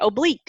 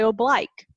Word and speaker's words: oblique: Some people say oblique and some people say oblique.